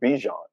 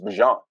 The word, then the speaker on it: Bijan: It's not Bijan. It's Bijan.